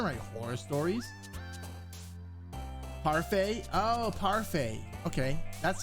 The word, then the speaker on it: parfait: Oh, Parfait.